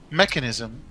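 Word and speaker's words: Mekansm: in his uh stat is that how you pronounce it mechanism yes it's how the characters pronounce it even though yes I know it's spelled mechm but it it's me it's English phonetics are really really R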